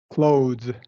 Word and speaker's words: clothes: okay that th yeah the th is silent so this is going to sound like this those cloes clothes okay clo like close the door right same exactly the same exactly the same okay